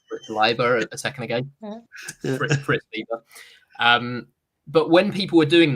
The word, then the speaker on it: Fritz Leiber: the year wrong, or I'll pronounce an author's name wrong, like I just did with Fritz Leiber a second ago. Fritz Leiber.